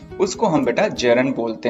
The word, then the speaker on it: gerund: अब ये ध्यान रखिएगा बेटा, जो जिरंड है इसको वास्तव में जिरंड नहीं बोलते, क्योंकि इसमें जो डी है ना वो साइलेंट होता है और इसका सही प्रोनाउंसिएशन होता है जेरन, GERUN, यही बोला जाता है, डी नहीं बोला जाता।